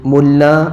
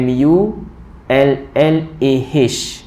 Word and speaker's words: Mulla: mulla ya tuan-tuan ya bukan Mullah sebab ada yang baca seinggat dalam surat khabar dulu Bila berlaku perang Amerika yang konon-konon baik tu dengan Iraq jadi dia masuk dalam surat khabar tu ejaannya m mu l l a h Umar jadi ramai orang yang baca Mullah Umar padahal sebenarnya mu l l a sahaja ataupun dalam bahasa Arab mim lam alif mulla ya mim lam alif